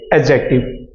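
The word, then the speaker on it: adjective: यह आपका एडजेक्टिव है आप इसे एडजेक्टिव नहीं पढ़ेंगे एड डी यहां पर साइलेंट है तो आप इसे पढ़ेंगे एडजेक्टिव तो समथिंग में क्या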